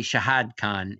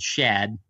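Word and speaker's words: Shahid Khan: yes and it's actually shahad Khan is is the it I've seen it spelled Shad by a lot of people but there's two syllables and shahad Khan is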